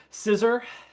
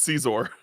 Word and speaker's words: Caesar: need to scroll faster scissor I said CES but hm Caesar Caesar oh whatever uh is it supposed to be scissor like scissors though no it's Caesar huh never heard it